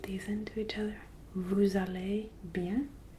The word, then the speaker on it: allez: Vous allez bien. Remember that EZ and ER are both noises that sound like A. Vous allez bien. It's not à l'aise. There's no Z pronounced.